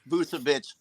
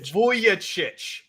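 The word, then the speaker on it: Vujačić: you gonna say that at least say his name right God oh you guys can't even get freaking today's players corrected busit is that not correct I thought huh V vuic Sasha vuic are you really picking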